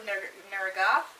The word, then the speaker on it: Neragath: For that, I'm going with Rat Queens, Volume 2, The Far-Reaching Tentacles of Neragath. Yeah, that's how it's pronounced.